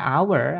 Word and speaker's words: hour: Misalnya an hour 1 jam itu tulisannya hor tulisannya pakai h teman-teman ya kan. Tapi karena bacanya hour, awalnya a itu pakainya an nanti an hour 1 jam seperti itu.